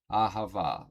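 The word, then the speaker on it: אהבה: But the word for love in Hebrew is ahava, pronounced ahava, which is the noun form of the root verb ahav, meaning to love.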